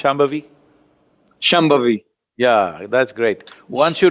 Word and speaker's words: Shambhavi: Can you pronounce Shambhavi? Shambhavi.